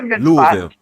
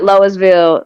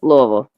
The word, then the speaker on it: Louisville: Louisville. Yeah. Louisville. Louisville. Just say Louisville. Louisville. Louisville. Louisville. There you go. Not Louisville. Not Louisville. Not Loisville. Louisville.